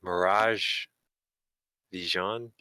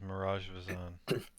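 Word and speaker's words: Miraj Vizann: I think that was Mirage Vision, if I'm pronouncing it right. That Earth Genasi. That was in the temple below the monastery. The name you're saying is Mirage Vizan.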